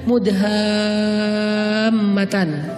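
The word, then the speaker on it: مدهامتان: para pendaki namanya surga mudhammatan bacanya juga harus panjang Karena dia rimbun banget sehingga bacanya mudhammatan artinya apa surga yang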